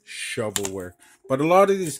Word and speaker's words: shovelware: lot of them are shovelware that's the right pronunciation of uh Shuffle work I used to call it shuffleware because I didn't know the slang yet now I know it's shovelware but a lot of these games you know